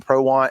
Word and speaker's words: Prowant: But we were laughing about your name, Prowant, and it's like I guess I couldn't pronounce it when I first met you, and it was like it's pretty simple. It's 2 words, and Anthony was like,